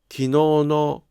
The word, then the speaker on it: 昨日の: ところが、昨日のは助詞のピッチが下がりません。